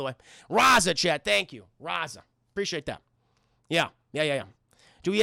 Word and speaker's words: Raza: Raza.